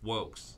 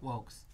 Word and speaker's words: vōx: Because we have an extremely exciting guest whose name is pronounced Wokes. Wokes. It may look another way to you, but that is pronounced Wokes. Wokes is an exciting artist.